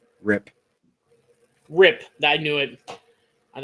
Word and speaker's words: Rip: It's Rip. Brett. It's a one syllable word. Rip.